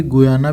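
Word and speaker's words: Guyana: एक खाली गुयाना भी है, ये गयाना या गुयाना जो भी आप बोलते हैं, प्रोनाउंस जो भी करते हो आप लोग, एक फ्रेंच गयाना है और एक खाली गयाना भी है।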